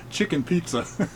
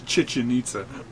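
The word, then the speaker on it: Chichén Itzá: thing, and he said he was pronouncing it chicken pizza. It was Chichen Itza.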